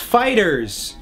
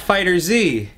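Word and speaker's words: FighterZ: So it's pronounced Fighters, not Fighter Z.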